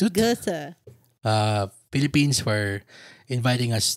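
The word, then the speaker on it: Goethe: Thank you to the Gota Institute Gota.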